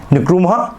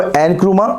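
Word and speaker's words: Nkrumah: इसमें सीधा हमारा आंसर है डी, क्वामे निक्रुमा। और कहीं पे इसको एनक्रुमा, तो जहां पे प्रोनाउंसिएशन जैसी हो वो आपको कहना स्पेलिंग यही रहेगी लेकिन प्रोनाउंसिएशन अलग अलग मिलेगी।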